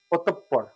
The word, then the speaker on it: অতঃপর: অতঃ, অতঃপর, এখানে হসন্ত দিতে পারি, অতঃপর, সঠিক উচ্চারণ হচ্ছে অতঃপর।